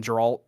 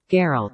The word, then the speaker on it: Geralt: love how they're building up the transition from geralt to um geralt geralt not not not geralt